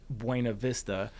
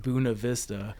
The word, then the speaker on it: Buena Vista: Like there's a town spelled Buena Vista, and they pronounce it Buena Vista.